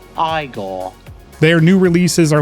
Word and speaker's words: Igor: redone nice Max and Igor cavalera have taken us on a metal time machine here and it is so sick now it's pronounced Igor their new releases are